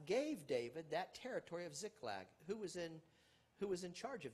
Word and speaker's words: Ziklag: The curtain opens with David in Ziklag. I think you can see it, or Ziklag. Ziklag, I think, is how it's pronounced.